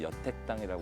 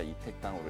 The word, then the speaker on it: 이택당: 그런데 이제 처음에 이게 한자를 잘 아시는 분들도 곧 여택당이라고 읽으세요 자 여자는 거울 여자입니다 곱다라는 뜻이에요 그런데 짝이라는 뜻 또는 이어져 있다 이런 뜻을 할 때는 2로 읽어요 그러니까 여택당이 아니라 이택당으로 읽어야 되는데 그러면이 택은 뭐냐 이어져